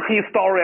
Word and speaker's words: history: 但我们不能读成 history 啊，同学读成 hi story，哪有这么读呢？